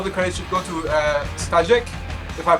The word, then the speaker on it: Staszek: Well, first of all, I would say all the credit should go to Staszek, if I pronounce his name correctly. We haven't actually talked about quite okay. Staszek.